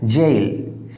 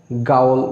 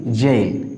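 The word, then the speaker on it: gaol: সাধারণত উচ্চারণ করে থাকি গাউল, বা কেউ কেউ বলে গোল, বাট it will be জেইল। খেয়াল করো এখানে জি এর উচ্চারণ জ হয়েছে।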